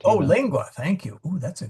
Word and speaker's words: lingua: Yeah, lingua because G's and U's. Sorry, G's and C's are hard in front of U's, but they're soft in front of I's and A's and E's and AE.